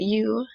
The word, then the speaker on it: ewe: we can see that you in this case as it is spelled as a noun that is a white lamb but when it and i said out loud it sounds like you um which also kind